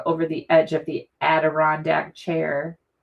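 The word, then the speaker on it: Adirondack: Oh, and matching envelope with the adrian Aderondac I almost said it wrong. Aderondac chairs, right?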